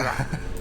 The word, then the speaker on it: Cerula: Planet Cerula. Is that how we pronounce? Cerula. There we go.